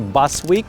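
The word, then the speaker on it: Boswijk: Популярный район Бушвик – это где граффити, хипстеры. На голландском называется Басвик, это означает как густой лес.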